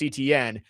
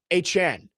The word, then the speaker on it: Etienne: Kenneth Walker and Travis Etienne, or is it Etienne? He actually, as we've been told. Yeah, that's actually how you pronounce Travis it. Etienne.